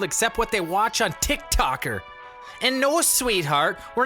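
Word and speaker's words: TikTok: mea first of all it's tick tock numbnut not ticker talk or ticker tick tick talk or whatever other way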